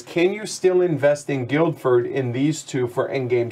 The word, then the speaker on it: Guildford: into another players you get a passenger and guild deferred yeah guildford guildford guildford right connected to a city so